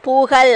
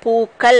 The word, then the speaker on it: பூக்கள்: இதை எப்படி சொல்லலாம், கயில் சேர்த்தா பூகள் அப்படின்னு வரும். பூகள் பூகள்னு சொல்லுவோமா, அது தப்பாக உச்சரிக்கிற மாதிரி வரும். அப்போ இக்கு அப்படின்னு சேர்த்து பூ இக்கயில் அப்படின்னு எடுத்து எழுதணும். அதான் பன்மையில் மாறுறப்ப பூக்கள் அப்படின்னு மாறும்.